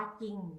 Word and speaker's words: จริง: รอ เรือ ควบ คะ จอ รอ คะ จอ เอง ออ ยิ่ง อ่าน ว่า จริง คะ ไม่ ออก เสียง รอ เรือ นะ คะ ยอ รอ ถึง